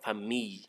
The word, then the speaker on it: famille: So just pronounce that LL as Y, famille.